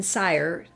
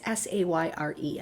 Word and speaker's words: Sayre: And her father, Anthony Dickinson Sire, I don't know if that's how you pronounced it. It's Sayre. I should have looked that up. Sire. Yeah, I'm going to say sure. Sire. Okay. Sayre. I'm going to say Sayre. Sayre was a powerful man.